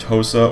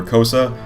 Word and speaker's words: Xhosa: Okay, so it looks like it can be pronounced Hosa or Kosa.